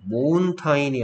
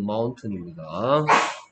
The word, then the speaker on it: mountain: 이런 부분 모운타인이 아니고 마운튼입니다.